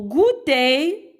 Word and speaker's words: goûter: Au goûter, E-R se lit E, E accent E.